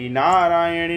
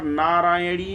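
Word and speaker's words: नारायणि: नमोस्तुते कर रहे थे तो नारायणी तो लिखा नहीं है नारायणी में छोटी इ की मात्रा है अब आप जब उच्चारण करते हैं तो नारायणी नमोस्तुते नारायणी नमोस्तुते ऐसा नहीं करना है आपका उच्चारण अशुद्ध शुद्ध हो जाएगा।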